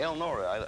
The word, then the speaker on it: Elnora: Eleanor, are you ready to go? I've been ready. Elnora, I put an extra syllable in there.